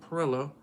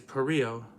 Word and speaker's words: Perillo: Southern and all but all the southern music was calling him Perillo uh but he's perrillo he's from it's like the French pronunciation Lucio perrillo so yeah